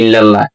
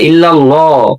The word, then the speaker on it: ইল্লাল্লাহ: আজ থেকে তওবা করে নিব এবং সহি শুদ্ধ করে নিব, বরঞ্চ এভাবে করবো লা ইলাহা ইল্লাল্লাহ। এই গেল কালিমা। ইল্লাল্লাহ বলে ইল্লাল্লাহ, লাম মোটা হবে।